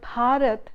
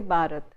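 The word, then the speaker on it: भारत: that is why when new learners of Hindi from the south, when they pronounce these sounds, they tend to confuse one sound with the other. So, they would say instead of Bharat, they would say Bharat.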